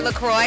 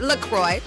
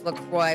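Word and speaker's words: LaCroix: Officially, it's pronounced Lacroy. So, it rhymes with enjoy, not Lacqu or Lacro like the French might say it. So, it's Lacroy, Wisconsin, but it's spelled different, spelled C R O S S E.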